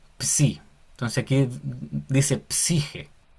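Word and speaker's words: ψ: Y después tenemos otra que también podemos relacionar, porque mira, esta que parece un tenedor Ujú, se lee psi, psi.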